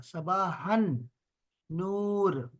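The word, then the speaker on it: صباح النور: असल में यहाँ पर जो अलिफ है वो साइलेंट है। ये जो अलिफ जो है ना, ये साइलेंट है। यहाँ पे एक शद लगा दिया है। तो अब हा को हमने नूर से, नून से जोड़ना है। इसलिए हम कहते हैं सबाहन नूर।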